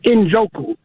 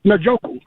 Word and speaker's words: Njoku: And speaking of pronouncing people's names correctly, I wish people would stop saying Injoku. His name is not Injoku, it's Nooku.